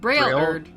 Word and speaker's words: Braillard: Just think of Braille, like blind people touch, and then add a erd on it. Braillard.